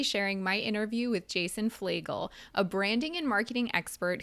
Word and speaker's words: Fleagle: pronounce his last name, he said Fleagle, like the bagel.